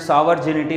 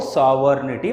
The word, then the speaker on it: sovereignty: इसको तकरीबन स्टूडेंट सॉवर्जिनिटी बोल के प्रोनाउंस करते, इसको सॉवर्निटी प्रोनाउंस करना है।